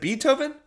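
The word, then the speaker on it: Beethoven: played symphonies is it betoken she asked once pronouncing the first part of the composer's name not bei but be like the insect she rolled down the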